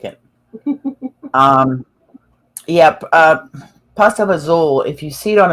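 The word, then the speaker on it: pasta e fagioli: like it um yep pasta bazool if you see it on a menu it looks like pasta for goalie but it's pronounced pasta bazool in italian and it's really good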